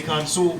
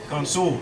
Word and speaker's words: consul: see come soon c-o-n-s-u-l I say console because that's the way it's pronounced it's not Council is it agent commissioned